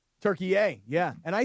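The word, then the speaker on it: Türkiye: I think in I want to say a couple years ago, the Turkish government requested that the United Nations change the country's English designation to Turkey A because that's actually how they pronounce it, and basically to distance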